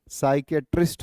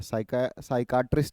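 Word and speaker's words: psychiatrist: ठीक है, साइकियाट्रिस्ट होता है, साइकाट्रिस्ट नहीं, साइकियाट्रिस्ट, साइकियाट्रिस्ट।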